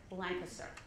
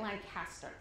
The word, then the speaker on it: Lancaster: nonfiction conference it's in Lancaster Pennsylvania which is pronounced blind sir so dope yes so don't show your Canadian colors by calling it Lancaster it would be very good so I'm at